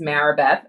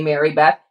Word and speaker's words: Marabeth: But, my given name is Marabeth. I'm named after one of my aunts, and everyone always mispronounces it and calls me Mary Beth.